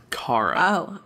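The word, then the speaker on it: Chara: really John the serf no it's it's pronounced Caro a human child named Cara left their village on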